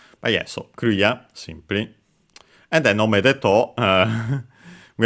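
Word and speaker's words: クリア: So yeah, low, high, low in our case for Korea.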